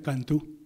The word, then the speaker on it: Canto: Quiero decirles, si no lo saben, me imagino que lo saben, que en portugués C-A-N-T-O se pronuncia Cantú.